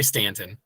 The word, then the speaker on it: Staunton: No, I say Stanton. Oh, it's spelled Staunton.